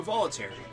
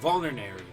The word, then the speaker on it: vulnerary: should give him a volary vulnerary I keep on pronouncing that volary and there's not a T in there I don't know why I'm saying volary but vulnerary let's give him one